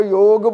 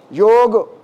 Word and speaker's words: योग: आप में से बहुत कम लोग होंगे जो योग बोल रहे होंगे। योग वर्ड संस्कृत का है, योग वर्ड संस्कृत का है, इसको प्रोनाउंसिएशन इसका योग, नॉट योगा, योग, राइट।